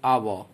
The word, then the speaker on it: hour: But in the word university, the word starts with letter u, but pronunciation is u, ya, university. So, we use a university. Similarly, next example is our, H-O-U-R.